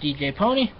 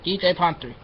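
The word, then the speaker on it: DJ Pon-3: despite how much my friend tells me it's pronounced DJ pony cuz it's Le speak no it's DJ ponre and the code card and song is smile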